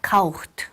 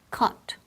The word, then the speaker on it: caught: A lot of times I hear kaucht or couched or kocht, okay? It's not any of those. It's caught. Casi como si fuera K-O-T.